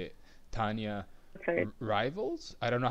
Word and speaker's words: Rivilis: No, it's actually Rivilis. Rivilis, okay. Sounds like, yeah, because it's like I pronounce it in Russian way, so it's like Rivilis.